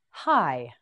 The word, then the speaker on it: high: again hideous that's right hi hi hi this word has a silent GH on the end hi you try it